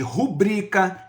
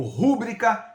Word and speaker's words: rubrica: Por exemplo, considerando a prosódia, existem algumas palavras que comumente são pronunciadas de maneira incorreta, como é o caso de rubrica, recorde, ciclope, nobel. Muitas vezes essas palavras são pronunciadas incorretamente como rúbrica, recorde, cíclope e nobel.